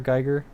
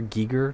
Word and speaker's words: Giger: Geiger or Giger, depending on how you pronounce his name, because that artist has a lot of that in his work.